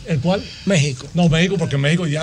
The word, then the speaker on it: México: México. No, México, porque México ya hace lo mismo mexicano. Dice que es con X. Pero está bien, pero se pronuncia con J.